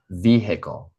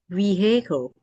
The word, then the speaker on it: vehicle: For example, in vehicle, we say vehicle, not vehicle. It's not vehicle, it's vehicle.